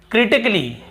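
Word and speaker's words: critically: फिर देखिए क्रिटिकली, क्या होता है क्रिटिकली, यहाँ पर भी ए का उच्चारण नहीं हो रहा है।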